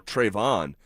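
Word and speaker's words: Trevon: Uh Tven Brazil. All right. And I know his name is spelled T R E V O N. like you know Trayvon.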